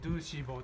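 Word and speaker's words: 2CV: て、これですね、ドゥーシーボーと読みます。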